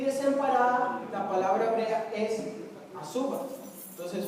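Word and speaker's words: עזובה: Y desamparada, la palabra hebrea es azuba. Entonces pronuncien asa, azuba.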